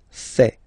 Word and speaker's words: fait: Il, masculin, and then elle, féminin, fait. Final T not pronounced. Il, elle, fait.